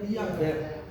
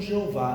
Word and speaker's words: Yahvé: como eu sou, e a pronúncia mais próxima, mais aceita, seria Yahvé, ou como alguns pronunciam, Jeová, né?